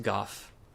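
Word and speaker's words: Gough: made by someone named Goff, or Go. Having met this NPC in previous playthroughs and watching videos, I know that it is pronounced Goff, which indicates that Smo would actually be pronounced Smoff if things were consistent.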